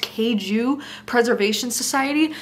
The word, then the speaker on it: Kaiju Preservation Society: And then while we're discussing sci-fi, I also found this book, which I believe is pronounced Kaiju Preservation Society.